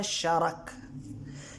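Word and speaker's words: شَرَك: وضاحت کی ہے کہ شرک کے دو تلفظ ہیں، یعنی ادائیگی کے دو طریقے ہیں، ایک شرک اور دوسرا شارک.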